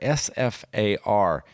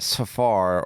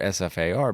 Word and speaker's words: SFAR: Ruger and the Ruger sfar you do not pronounce it Safar or so far it's really good but